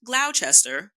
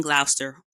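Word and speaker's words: Gloucester: that was in glower we stopped in not Glouchester the way it's spelled but in glower shout out to my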